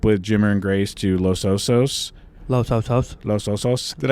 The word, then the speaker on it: Los Osos: I would say another highlight was our family trip with Jimmer and Grace to Los Osos. Los Osos. Los Osos. Did I say it like that? Los Osos.